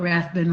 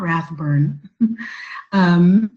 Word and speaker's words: Rathbun: And I have no idea what Rathbun rhymes with, but it's not Rathburn.